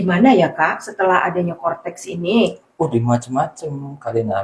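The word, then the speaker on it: Coretax: Kortex. Iya. Ini kalau dibacanya kortex gitu ya.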